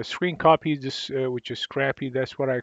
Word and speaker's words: scrcpy: uh app actually uh it's called CR uhr cpy Scrappy or Scrappy so uh Scrappy Scrappy whichever you want to pronounce it is an application uh